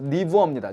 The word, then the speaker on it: 니부어: 여기에서 제가 왜 독일계라고 써놨냐면 원래 이름 자체가 칼 폴 라인홀트 니부어입니다. 제가 발음을 강하게 했잖아요. 이 사람이 독일에서 독일계라는 거.